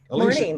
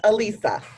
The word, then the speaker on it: Alisa: Alicia, Morning. good morning. Is this Alicia? So it's pronounced Alisa, but yes.